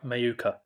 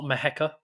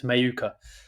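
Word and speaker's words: Mheuka: uh my number one is shim or shamaya mayuka which is how you pronounce his name apparently I've gone through many different ways but I think he's confirmed himself it's not maheka it's a it's mayuka yeah as I said I've taken a bit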